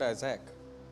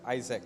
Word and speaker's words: Isaac: Help me with that word Isaac, okay? Because sometimes I pronounce that Isaac. It's Isaac, okay?